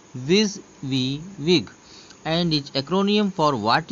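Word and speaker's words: WYSIWYG: देखिए नाम से इसके मालूम पड़ रहा है, विजिविग is pronounced as विज वी विग एंड is acromion for what you सी is what you गेट।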